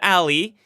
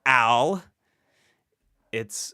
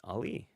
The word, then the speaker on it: Ali: It's not Alli. It's not Al. It's Ali. Um, also acceptable is Ali, which is how uh my parents pronounce it, but Ali. Ali, like Muhammad Ali, like the boxer.